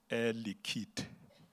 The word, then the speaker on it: Air Liquide: So he says, you pronounce it Air Liquide. We mustn't hear the E at the end.